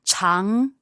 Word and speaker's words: 常: No, 长, second tone. Just going up.